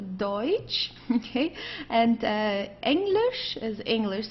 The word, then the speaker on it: Deutsch: Deutsch means German. Okay, don't confuse it with Dutch. This is not Dutch, it's a Deutsch.